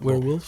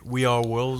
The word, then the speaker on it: We Are Wolves: Werewolves. Il était We Are Wolves. Ah, We Are Wolves, ok. Mal prononcé.